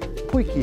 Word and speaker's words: Potjie: Poiki schreibt man komplett anders. Ich musste aber lernen, dass es Poiki heißt.